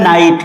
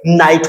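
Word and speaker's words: knight: ये होता है नाइट। के एल आई जी एस टी के के बाद एन आ गया तो यहां पे नाइट हो जाएगा।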